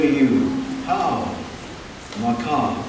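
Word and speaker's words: Hau: and by the way the word how is not like how are you h w it's spelled ha Au U and it's a totally different thing when we say how it's not a question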